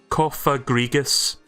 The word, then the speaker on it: Cofagrigus: It actually tells you how to pronounce it. Cofagrigus. Right, I've been saying that right.